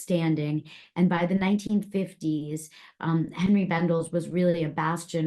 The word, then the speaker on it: Henry: And Henry, yes, a lot of people think it's Henri because of the spelling, but actually Henry came from Louisiana. So it's pronounced the American way.